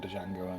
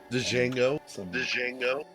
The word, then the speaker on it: Django: with that guy from django unchained django is there another one excuse me but the d is silent really it sinks i